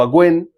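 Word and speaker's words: און: viene de una raíz que se le pronuncia o se puede decir aven o agen puede servir como un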